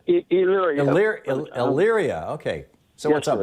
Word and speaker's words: Elyria: Elyria.